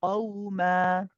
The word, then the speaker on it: قوما: Just try to think about where your tongue, back of the tongue is going for the qaf, because we don't say ka ka ka. It wants to be more back in the throat.